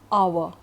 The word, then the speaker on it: hour: Now the words with silent h, like hour, HOUR, air, HEIR, herb or honor.